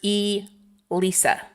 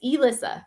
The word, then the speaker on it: Elisa: Alissa Alisa me and I thought your I thought you pronounced yours e Lisa yeah it's Elissa it looks like it because of the One S but yeah oh so